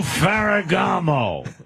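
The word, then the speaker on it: Ferrigno: I just wanted to let you know you're pronouncing it wrong. It's Lou Ferragamo. We all remember. All right. Lou Ferragamo.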